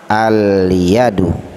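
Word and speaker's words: اليد: Al-yadu, al-yadu. Jadi alnya jelas. Kenapa jelas? Karena dia bertemu dengan huruf qamariyah.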